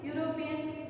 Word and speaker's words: European: But here, how we are pronouncing European? It has a consonant sound.